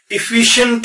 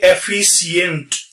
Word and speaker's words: efficient: आप प्रोनाउंसिएशन के उससे ध्यान रखें, ये इफिशियंट होता है, इफिशियंट इफिशियंट, ना के एफिशियंट.